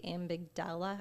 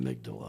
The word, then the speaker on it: amygdala: And I have a hard time pronouncing this part of the brain, but I think it's the amigdala, I don't know, but it gets hijacked amygdala. Amygdala, thank you.